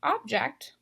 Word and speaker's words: object: this category all right this is object so unlike object I'm stressing this last syllable object now that's something